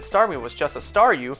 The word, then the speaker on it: Staryu: me was just a Staryu, I could never pronounce its name right. I always ended up sounding like saw you.